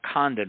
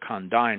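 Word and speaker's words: Condign: The Condine report that's spelled CO N DIGN. It's not Condan report. Condine report uh came out in 2006.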